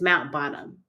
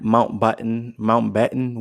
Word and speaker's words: Mountbatten: It's Mount Bottom.